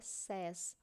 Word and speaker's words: says: Você pode ter notado aqui, então, que a pronúncia é says, mas talvez alguns de vocês já tenham escutado say. Então, toda vez que tiver o S, a pronúncia não vai ser mais say, ok? Então, I say, eu digo. Agora, se eu quero falar que ela diz, she says, a pronúncia muda.